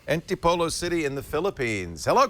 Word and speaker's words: Antipolo: And Chris is on the line from, and you better pronounce this for me, is it Antipolo? Antipolo. Antipolo City in the Philippines.